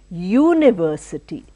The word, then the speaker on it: university: in ambedkar University so although it starts with you which we say is a vavel sound but the pronunciation is not vavel we are pronouncing as University that is the sound year year is a consonant sound so we don't say